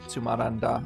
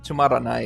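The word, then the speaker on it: つまらない: or he usually pronounces this tumaranda I think or just tumaran but it's tumarani is the way I know how to say it I've been hearing clumsy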